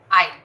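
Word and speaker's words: aisle: That passage way is called an आइल। ठीक है, एस is silent, उसका साउंड नहीं है।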